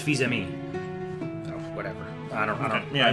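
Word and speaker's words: Fils-Aimé: It looks like Phil's Amy. His name looks like Reggie Phil's-Amy, but it's Fils-Ami.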